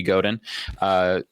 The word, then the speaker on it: Godin: there's a book by Seth Godin, Hard G Godin.